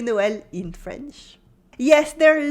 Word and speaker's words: Noël: joyeux is silent, and this weird letter is called, well, the sign on the top of it is called un tréma. Un tréma. This means that the sound is like a separate letter.